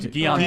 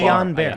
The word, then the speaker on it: Guillain-Barré: always mispronounce it. Yeah, I mean, Guillain-Barré. Guillain-Barré.